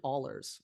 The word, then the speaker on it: Ahlers: when UCF lost to East Carolina's quarterback, Holton Ahlers, I think I pronounced that right. Ahlers, yep.